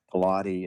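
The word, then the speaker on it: Piloti: is involved in and it's spelled um not like Pilates but it's P like pilot with an I on the end. Pilott, it's Italian racing shoes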